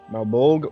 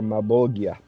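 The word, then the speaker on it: Malebolge: It can be pronounced as Malbolg or Malbolgia. Ah, It's a Latin word.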